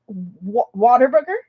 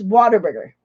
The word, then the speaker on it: Whataburger: to say it right whataburger it's i know it's not what a burger i know it's water burger i think is how you say it but um yes i've